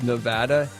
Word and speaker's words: Nevada: that people like to call Nevada but it's Nevada and Oregon is Oregon not Oregon oh my